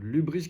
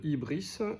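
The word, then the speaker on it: hybris: Euh l'ubris qui se prononce ibris et dické.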